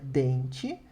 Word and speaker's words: dent: Dent, que significa dente, d'accord? Dent, sem pronunciar o T.